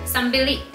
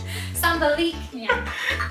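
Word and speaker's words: sebaliknya: Sambilik. Ya. Yeah. How do you say it? Sambilik is constipated. Sabaliknya. Oh, sabaliknya.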